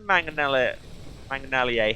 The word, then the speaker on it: mangonellier: I'm the mangonellier here. Had a moment and then remembered it rhymes with sommelier.